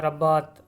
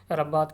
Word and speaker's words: Rabat: और इसका कैपिटल पूछा तो नहीं गया, लेकिन आप याद रख लें, कैपिटल वो है रब्बात, RABAT, प्रोनाउंसिएशन देख देख लीजिएगा, रब्बात करके कुछ है इसका।